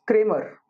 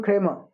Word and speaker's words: Kramer: a em er but I don't pronounce it as creamer these are are not audible they are the right the right way to say it in in a British actual to be creamer okay so there's a there are just two syllables here's great MA I'm